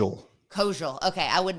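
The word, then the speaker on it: Koziol: Kojal.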